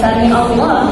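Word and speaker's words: سمع الله: Ya, jadi sami sami di situ ya bukan samiallah, bukan sami Allah ya, tapi samiallah ya. Jadi mengucapkannya dengan suara mir hamzah itu salah. Jadi ain tetap ain ya.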